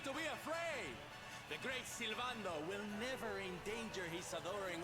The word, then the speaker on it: Sylvando: Sylvando? I was saying it wrong. Sylvando. What was I saying? Sylvanado? Yeah, Sylvando, I guess, makes more sense.